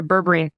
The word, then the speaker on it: berberine: So apparently there's this supplement called berberine. Is that how you pronounce it? Mm-hmm. Yeah, berberine.